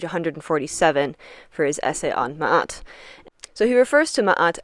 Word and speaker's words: Ma'at: of Mahat is that you can pronounce it ma. It's the Egyptological way of pronouncing it and it's absolutely fine. That is what most people will recognize it as or just mat.